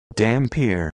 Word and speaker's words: dhampir: a channel with the help video for saying it in English. Dampir. It comes across like the actors in the film are misreading the word.